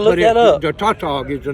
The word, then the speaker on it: Tautog: Tautog? Tautog.